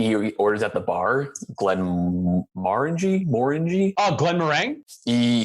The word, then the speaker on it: Glenmorangie: orders at the bar Glen Margie more indie Glenn rang he he pronounces it with four different syllables I don't ever remember